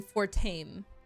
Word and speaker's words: Fortem: He says Fortem's name Fortame instead of Fortem, and other people say Fortem.